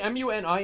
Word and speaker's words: Muni: Yeah, traditionally MUNI is a Bangladeshi name actually pronounced Muni, but the context of